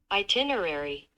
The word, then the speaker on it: itinerary: Itinerari kita bacanya. Aduh, salah. Itinerari. Oke. Bacanya itu bacanya itu seperti ini. Rencana perjalanan salah. Salah. Yah, yang ini ding. Itinerary. Itinerary. Oh, seperti itu.